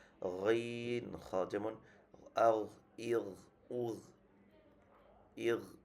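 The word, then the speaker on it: غين: তো আমাদের গইনের উচ্চারণটা এরকম হবে গইন খ, মানে একদম এই জায়গা থেকে একদম একদম খরখর একটা আওয়াজ গইন খ।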